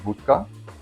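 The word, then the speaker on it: wódka: So, we're going to start off with an ounce and a half of bhka. I'm Polish. That's the Polish pronunciation.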